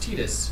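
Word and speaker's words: Tidus: do you pronounce tetus it's officially pronounced tetus but like I was saying earlier we I personally believe that if you were pronouncing it prior to it being officially announced then you get to say whatever you want yeah in Japan they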